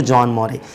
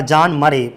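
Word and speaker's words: John Murray: और who published, किसने publish करवाई थी the serpent and the rope को, तो जॉन मोरे। ये याद बनाए रखिएगा, जॉन मरे पढ़ोगे, सॉरी माफ करिए, जॉन मरे प्रोनाउंसिएशन।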